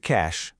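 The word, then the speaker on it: cache: The word cash, the one for computer memory, is pronounced exactly the same way as cash.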